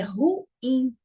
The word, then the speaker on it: ruim: Aqui nós temos a palavra ruim, e geralmente na linguagem informal as pessoas têm o costume de falar ruim, né? É muito ruim. Só que a palavra não é ruim, porque quando eu falo ruim, a sílaba mais forte fica sendo ru. E a palavra é ruim. Então, ela não é uma paroxítona, ela é uma oxítona.